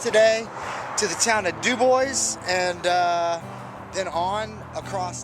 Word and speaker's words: Dubois: headed uh west here towards the town of dubois which is actually pronounced dubois but uh so i'm headed to dubois here